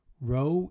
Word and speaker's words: rho: Rho is that Greek... Rho is how you pronounce that Greek character that looks like a P that's been in a car accident.